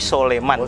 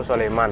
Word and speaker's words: Sulaiman: next ditulisnya soleman B Hai pengucapannya di waktu orang Jawa bukan Sulaiman tapi Sule man Sule man Sule man Biasanya seperti itu nah habis itu diceritakan